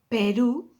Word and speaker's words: Peru: Peru, you have a father there in the U, that's stressing the syllable.